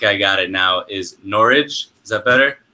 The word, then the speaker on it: Norwich: you gave me a hard time because I mispronounced this, but I think I got it now, is Norwich.